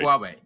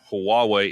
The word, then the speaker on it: Huawei: to Apple in China is Huawei, right?